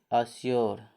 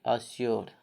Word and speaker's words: assure: ठीक, लास्ट में यू आ रही है तो भी अपवाद है, इसको बोलेंगे यो। यो, इसका उच्चारण क्या हो जाएगा? यो। ASSURE, अश्योर।